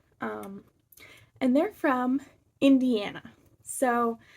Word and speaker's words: Hoosier: But I did my research, and they're from something called and forgive me if I mispronounce this, a Hoosier cabinet. It's Hoosier, and they're from Indiana.